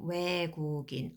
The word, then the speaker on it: 외국인: Number 28, 외국인, a foreigner. So here that spills over, so I'm pronouncing 외국인, a foreigner.